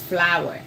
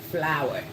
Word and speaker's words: flour: I don't know if that's the British way cuz Ghana was colonized by the British but it's flour. Flour. This is the same pronunciation but for different things.